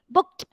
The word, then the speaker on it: booked: So it is not pronounced that way. It is pronounced as KT. Okay, ED should be pronounced as KT. Okay, booked. Forget the C. Imagine there is K and imagine there is one T instead of D.